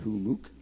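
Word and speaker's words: Humux: org run by hamuk h-u-m-m-u-x is how you spell it but it's pronounced humook we're doing a live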